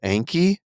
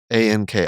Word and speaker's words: Anki: Anki, there's these flashcards, which to that group I said Anki, and they all laughed at me.